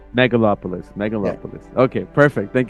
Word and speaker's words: Megalopolis: How do you pronounce it again? I'm gonna butcher it if I say it. Megalopolis. Megalopolis.